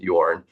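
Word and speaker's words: Jørn: And Jorn is Norwegian, so it's actually Jorn, but it's pronounced Jorn.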